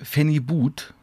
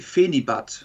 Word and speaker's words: Phenibut: Es kam noch viel schlimmer, da sich, das habe ich noch nie gehört, heißt das jetzt Phenibut? Nee, Phenibat. Phenibut. Ja. Also, das wird Englisch ausgesprochen, oder wie?